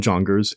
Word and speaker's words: Junger: let's get into sebastian jonger's nde junkers junger yeah i believe he pronounces it jonger you'll hear it in